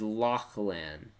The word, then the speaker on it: Lachlan: hello my name is lachlan you said and the h is silent lachlan lachlan okay i